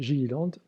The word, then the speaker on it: Gilliland: les travaux de guilad certains l'appellent gilliland s'éteint donc on le prononce à l'anglais alors on commence par